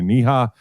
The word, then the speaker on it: Neha: You could follow her at Dr. Neha, which is Dr. Niha.